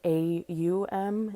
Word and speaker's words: Aum: um you kind of you can break it down to almost like three syllables. So that's why I think it's helpful to look at it as like a u m in your brain if you're that kind of person.